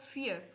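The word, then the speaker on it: vier: बोलेंगे dry four को फियर four को फियर यर नहीं फियर फाइव को बोलेंगे फ्यून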